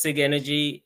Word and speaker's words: Sigenergy: The company name is pronounced SIG energy and the product is called Sigen store.